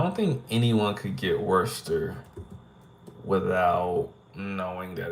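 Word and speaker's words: Worcester: oh that that word that's Worster I know it looks like Worchester but it's not Worchester it's Worster why because it is [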